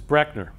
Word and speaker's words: Breckner: So my last name is actually mispronounced by almost everybody. That's the way it's actually pronounced, is Breckner.